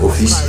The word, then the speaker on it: Ophis: mon nom de famille j'ai appris que Snake serpent ça se prononc office et j'aais bien la